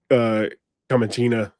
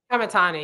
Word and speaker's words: Kamitani: But I do think Saya's Kamatina. Is that how you say it? Kamitani, yeah. Kamitani. Yeah, okay. Yeah, I see that now.